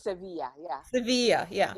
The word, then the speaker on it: Sevilla: How Yeah, do they so pronounce it? Sevilla? it's Sevilla, yeah.